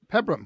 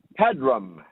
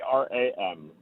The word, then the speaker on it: Pedram: Pebram, welcome to the show. And am I pronouncing your name right? Pedram. Okay. Pedram. Like Pedro, only with rum at the end.